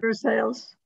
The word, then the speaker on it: Versailles: Versailles. How long have we been here? They don't use the French pronunciation.